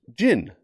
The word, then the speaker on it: Djinn: album and it's titled jin but it's spelled d-j-i-n-n so the d is silent kind of like aerodactyl